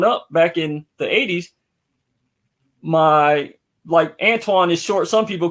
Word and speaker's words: Antoine: Like, even when I met you, with all due respect, you know, everybody mispronounces my name. I've been called Anthony, Antoine, sometime, but Antonio, Antone, Anthony, Anthony. Right. Pronounce it. It's Antoine. Antoine. Yeah.